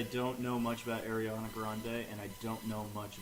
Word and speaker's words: Grande: quote because I don't know much about Ariana Grande and I don't know much about her religious views. It's I'm one of pretty her- it's one of her last songs. name is Oh, actually okay. pronounced Brandy.